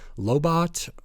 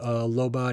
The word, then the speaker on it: Lobot: I think it's pronounced Lobot, L-O-B-O-T.